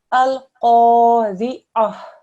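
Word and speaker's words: القارعة: Al-Qari'ah. Al-Qari'ah. Okay. Oh, try and get a thick sound, okay?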